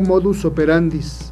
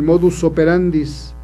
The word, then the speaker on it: modus operandi: y buscan, dicen, el modus operandis, y no, en realidad lo correcto es modus operandi, el modo de operar, el modo de actuar. Lo correcto es modus operandi.